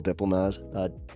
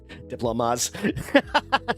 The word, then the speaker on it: diplomas: At some point in the 90s, colleges said that they would accept Kansas high school diplomas. Diplomas. I put the wrong emphasis on the wrong syllable.